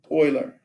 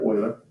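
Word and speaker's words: Euler: after good old Leonard Oiler and it's spelled e u l e r and it's kind of pronounced like um the word oil with an earth Leonard Oiler okay so we're going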